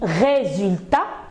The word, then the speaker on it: résultat: Alors j'ai dit résultat. Pourquoi on a prononcé résultat? Oui, parce que la lettre S est placée entre la voyelle E et la voyelle U.